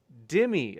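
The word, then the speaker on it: dhimmi: snake was right says nadir what is a dimmy uh it's they spell it d-h-i-m-m-i me uh yeah so basically this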